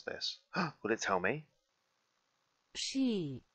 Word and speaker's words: Psi: Psi. Ooh, did you guys hear that? Psi. That's how you say that.